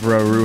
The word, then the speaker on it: Rauru: shit your pants no it's pronounced rauru hmm get candle